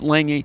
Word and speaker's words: Lange: No, it's there's an N in it. Okay. It's Lange. It's a G, but there's an N in an N pronunciation.